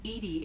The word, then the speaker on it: EDI: are you named Edie Edie is the phonetic pronunciation of EDI acronym for enhanced Legends